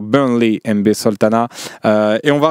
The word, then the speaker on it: Burnley: Burnle exactement avec l'accent mais bon, on est en France ici ou c'est pas très bien de dire ça y est mais je l'ai prononcé à la à la française. Il a fini CM de Burnley. Exactement. Allez, on va essayer de dire Burnley.